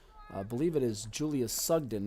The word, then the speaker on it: Sugden: I believe it is Julia Sugden, not Sugan, as that was incorrectly spelled in the scorebook. So we do want to get that corrected while we have a chance. Julia Sugden for FC is the proper pronunciation and spelling for that.